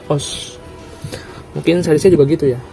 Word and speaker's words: OOO: Misalnya kayak Kamen Rider OS kan, OOO kan, tapi dibacanya OS.